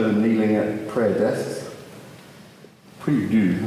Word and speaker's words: prie-dieu: Prie-dieu, I think is how it's said in French. That's correct.